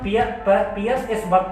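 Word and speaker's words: Pearl S. Buck: Pulse एक बर्ग, यानी इसको हम पियर्स एस बर्ग पढ़ते हैं, एल यहाँ पे साइलेंट रहता है।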